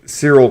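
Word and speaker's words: Cassian: and was like, Cyril, I'm eating Cyril. Yeah, Cyril, that's the name. Cyril.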